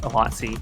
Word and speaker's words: Awatzi: I just realized I'm pronouncing Awatzi's name wrong. I just remembered that it was pronounced Awatzi.